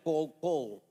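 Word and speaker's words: קול: es la palabra f en el hebreo se pronuncia Call call yo creo sinceramente que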